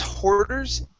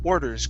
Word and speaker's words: orders: so uh grace's orders okay instead of grace's hoarders it's or orders grace's orders racist orders grace orders yeah there you go last one was good okay go right to the vowel instead of an h sound next up is happened